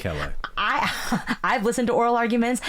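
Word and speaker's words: Callais: No one knows how to pronounce it, but I think Great. it's Calais.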